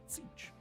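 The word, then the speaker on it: Tzeentch: Sticking in the realm of chaos, the name of the Changer of the Ways presents a perplexing puzzle of pronunciation. It's Zeech, if you're wondering.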